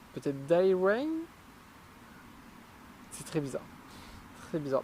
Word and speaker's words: D'Airain: Alors, je vais le prononcer à la française. D'airain, parce que je n'ai aucune idée de comment on devrait le prononcer en anglais. Peut-être D'airain.